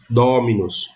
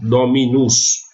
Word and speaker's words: dominus: Dominus. Não é dominus ou dominus. É dominus. Proparoxítona.